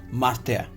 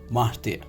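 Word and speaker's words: myrtille: Pronunciation in French is martille, is M-Y-R-T-I-L-L-E. Pronunciation is martille, M-I-R-T-E-A.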